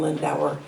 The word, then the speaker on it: Lindauer: Rhymes with Budweiser. Internet. Microphone. Sorry about that. I'm Lindauer.